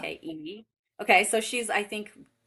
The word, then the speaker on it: Funke: So Inkheart by Cornelia Funk or Funky. I don't know how you say it. It's Oh, yeah. Funke.